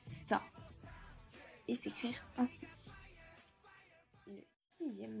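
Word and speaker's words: 소: Une vache, cela va se prononcer sa et s'écrire ainsi.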